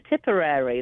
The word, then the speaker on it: Tipperary: I was saying it wrong there. Tipperary. There you go. Tipper. It's like topiary.